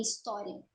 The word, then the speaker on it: história: Bom, o H, ele é mudo em história.